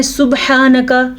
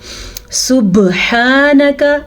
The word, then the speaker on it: سبحانک: کہتے ہیں، یعنی کہ سبحانک۔ عموماً ہم پڑھتے ہیں سبحانک، قلقلہ نہیں ادا کیا۔ سبحانک، ہم نے قلقلے کو بہترین ادا کیا۔ ہا کے تلفظ کو